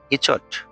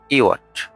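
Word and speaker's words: yacht: ওয়াই এ সি এসটি ইচট ন ভুল উচ্চারণ। এটির সঠিক উচ্চারণ হচ্ছে ইওট ইওট অর্থ বিলাসবহুল নৌকা।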